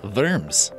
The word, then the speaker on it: Worms: Germany spelled like worms but it's more properly pronounced firms it may have also been a nickname for